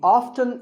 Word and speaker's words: often: but it's okay too next up is often some pronounce this as often now strictly speaking often is not wrong but the more common pronunciation is with the T silent so I recommend that you always say often one word that's often